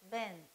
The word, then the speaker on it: been: plus b e then we pronounce it as ben okay not being when plus verb phrase